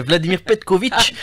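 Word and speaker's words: Vladimir Petković: matin le sélectionneur national Vladimir Petkovic si je l'ai bien prononcé anime aujourd'hui une conférence de presse vous y étiez presque he chou c'est Vladimir Petkovic ça sera la salle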